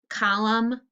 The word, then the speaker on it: column: MN, column, What's the silent letter? The N.